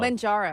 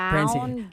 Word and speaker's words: Mounjaro: Manjaro. I was saying Manjaro. Manjaro? But it's Maun, M-A-W-N Ooh, pronunciation. Mounjaro.